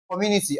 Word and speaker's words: community: Stress the third syllable from the what now? From the last, okay?